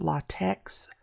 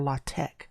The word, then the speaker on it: LaTeX: show you how to use latex for or latch that is the right way to say that for more advanced math